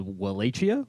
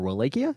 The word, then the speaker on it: Wallachia: It's actually this place called Wallachia or Wallachia, depending on how you want to pronounce it.